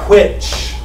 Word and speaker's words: which: Which. It's almost switching that WH around.